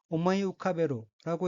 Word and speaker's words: 思い浮かべる: 셋째 줄의 어휘는 한자가 한국어로 생각사, 뜰 부자가 들어있고 일본어로는 오모이 우카베루라고 읽으며 오모이 우카베루는 마음속에 떠올리다 라는 뜻의 타동사입니다.